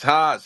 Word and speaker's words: Haas: All right, it's spelled with an H, so I'm not gonna assume it's Jose. Hose. No, it's Haas.